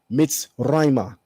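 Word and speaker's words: מצרימה: It's pronounced Be'ivrit Mitzrayma.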